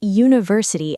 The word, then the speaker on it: university: It sounds like it starts with yuh, and yuh is a consonant sound, so we say a university.